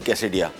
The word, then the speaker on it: quesadilla: और उसमें एक डिश आती है कैसेडिया। कैसेडिला भी लिखा जाता है इसको, लेकिन प्रोनाउंस को कैसेडिया किया जाता है।